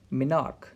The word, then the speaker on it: menarche: Occurring मिनार्क, ये कुछ scientist से प्रोनाउंस करते हैं मिनार्की.